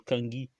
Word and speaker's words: Kanki: c'est pas Maipita Kanki, ça s'écrit Kanki, mais en fait ça se prononce Kangi, parce qu'en fait à